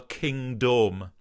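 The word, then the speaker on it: Kingdome: the boats and the king dome and i always thought that he was deliberately mispronouncing the word kingdom because it needed to rhyme with the word home in the next line kind of thing until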